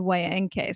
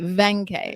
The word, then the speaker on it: Waenke: with i almost said wayne k so i'm glad i didn't do that we're going to pronounce it as a v venkai exactly exactly okay so